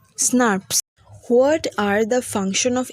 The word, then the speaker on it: snRNP: These RNA protein complexes are called small nuclear ribonuclear proteins or snRNPs, pronounced as SNRPs.